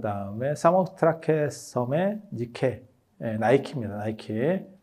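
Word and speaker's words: Nike: 그게 밀로의 비너스, 그 다음에 저 모나리자, 그 다음에 사모트라케 섬의 니케, 나이키입니다. 나이키. 니케 나이키는 영어 발음 때문에 나오는 거예요. 그래서 그게 승리의 여신이거든요. 그래서 나이키가 승리의 여신, 뭐 이렇게 해서 광고를 예전에 한 적도 있죠.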